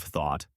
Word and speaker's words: though: Is it the O of though and although or the aw of thought? Once you differentiate that, you're halfway there. So, to recap, though and although both rhyme with go and snow.